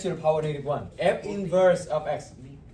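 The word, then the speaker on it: f⁻¹: write it is f don't say f to the power negative one okay because it's not it not it doesn't mean to the power negative one you how do you say it how do you read this X f inverse of x.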